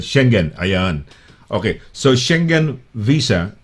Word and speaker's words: Schengen: Ano ba pronunciation? Schengen? Schengen. Yeah, Schengen. visa. That's a proper way of pronouncing it. Schengen.